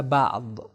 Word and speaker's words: بعض: صحیح تلفظ اس کا ہوگا بعض.